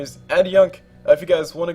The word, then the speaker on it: Adjunk: Just in case you guys were wondering, it's spelled ADJUNK, but I put up ADYUNK, so people can pronounce it right.